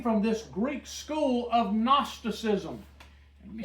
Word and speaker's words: Gnosticism: It's spelled with a G. G-N? G-N, just like Okay. a gnat. Gnosticism.